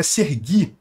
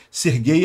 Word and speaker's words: Serhii: do nome do cara o nome do cara é sergui é a versão ucraniana do nome Serguei Serguei é a pronúncia russa ucraniano e Russo são